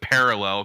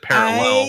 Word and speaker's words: parallel: And so I've for my entire life, I've put the wrong syllable, the emphasis on the wrong syllable. No, I know it's parallel because my wife makes fun of me all the time now, but I've always said parallel.